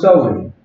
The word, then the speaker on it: Samhain: Halloween's origins date back to the ancient Celtic festival of Samhain, pronounced Samhain.